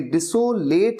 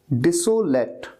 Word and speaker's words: desolate: इसे बहुत सही तरीके से आपको प्रोनाउंस करना है, ये डिसोलेट नहीं है, डिसोलेट, डिसोलेट, लेट, DESOLATE, डिसोलेट।